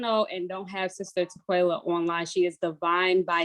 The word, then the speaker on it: Tequella: Tequella.